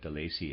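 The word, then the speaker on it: Delaisi: really must be raised delacy does so I'm pronouncing that the Lacy it's spelled d-e-l-a-i-s-i readers aside let's for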